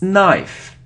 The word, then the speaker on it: knife: angel okay so next it isn't knife on if it's knife knife so we don't pronounce K so don't pronounce K